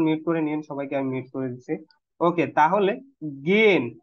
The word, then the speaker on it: gehen: ওকে, তাহলে gain, not গেহেন, গিয়েন, গিয়েন, এইচটা silent থাকে, গিয়েন।